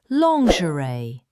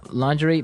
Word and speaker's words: lingerie: Underwear, panties, briefs, boxers, boxer briefs, thong, g-string, bra, sports bra, strapless bra, pushup bra, undershirt, camisole, lingerie, thermal Underwear, tights, stockings, slip, night gown, pajamas, robe, tighty whies, long johns, corset, shapewear, seamless underwear.